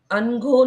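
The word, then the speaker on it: अनघः: इट्स अनघो अलग-अलग यस न का उच्चारण पूर्ण आना चाहिए अनघो नहीं अनघो जब बोलते हैं तो आधा न उच्चारित कर रहे हैं हम तो न पूरा है तो अनघो जो पाप रहित है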